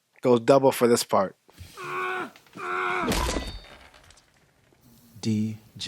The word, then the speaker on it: Django: D-J-A-N-G-O. The D is silent.